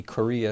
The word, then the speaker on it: Corea: in town of Korea I mean name for town but it's spelled with a C Korea at me and I'm